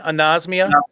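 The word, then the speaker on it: anosmia: one more time no it starts with the end nos mia a-n-o-s-m-i-a can you say the a on the front anasmia yeah based on i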